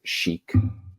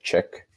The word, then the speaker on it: chic: in sixth grade and I mispronounced the word Sheik Chic I said chick and one of the